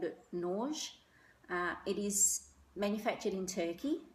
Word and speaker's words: Nurge: going to mispronounce it, I call it Nerge. It's spelled N-U-R-G-E, but the lady in the shop did pronounce it a little bit differently. I think she called it Nerge.